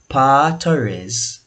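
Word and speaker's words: Pau Torres: power our pal torres his name is spell p-a-u there's no l but i have forgive me for pronouncing it incorrectly so partores the news has said that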